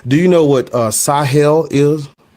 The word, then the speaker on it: Sahel: Do you know what uh Sahel is? I'm from the Sahel. Right. So is that how you pronounce that word? I I can't pronounce it right. Yeah, that's correct.